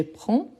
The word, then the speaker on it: prends: Je vous rappelle qu'ici à la fin le 2S, on ne prononce pas. Donc, on a je prends, tu prends, il on prend, nous prenons, vous prenez, il prennent, elle prennent.